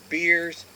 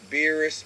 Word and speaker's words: Beerus: Beers, Beerus, or Beerisu is the correct way to say it.